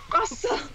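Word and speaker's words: Rusl: So yeah, but it's spelled weird. R-U-S-L. So it's not like Russell, like R-U-S-S-E-L. It's like Russell. Russell.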